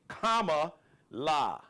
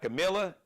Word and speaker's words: Kamala: vice president kamla Harris and is kamla think Kama La K La not Camila not camela because some of y'all be on some racist